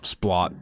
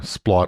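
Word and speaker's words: Splott: Splot. Yeah. Klum, yeah. Yeah, Splot or Splo, as the estate agents apparently refer to it as.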